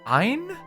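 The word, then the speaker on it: ع: Basically say ah, but retract the throat muscles by your Adam's apple, or the female equivalent, to compress the airflow of your throat. It's like choking yourself with your own throat.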